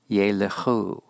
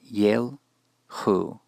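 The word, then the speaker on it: יֵלְכוּ: In the next example, we see a tsere, a long vowel in the first syllable, and this will cause the Shava after the lamed to be vocal. Yelechu, yelechu, not yelchu.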